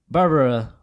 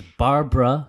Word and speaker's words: Barbara: and by the way her name is Barbara not Barbara yeah bruh that's not three-syllable Barbara yeah - so VAR the BA are BR a like a bar brawl oh yeah exactly I